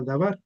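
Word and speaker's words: דבר: El verbo también dice, el verbo fue hecho carne y la palabra verbo en hebreo es se pronuncia dabar o hadabar, el verbo.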